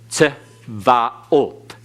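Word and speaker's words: צבאות: When a schwa begins a word, it is always vocal. So it's tz, tzvaot. Tzvaot. Okay, tzvaot. Again, you have to pronounce it to where you come to the end with the accent on the end.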